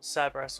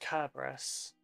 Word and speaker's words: Cerberus: Does he pronounce it Cerberus or does he pronounce it Kerberos? Because, like, at the time, the language had no soft C sounds, so Cerberus is technically pronounced Kerberos.